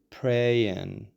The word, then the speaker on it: praying: the same rule again Ing we change that I into aah sound like America about a again okay and we drop that G and we say praying Yen Yen okay so I I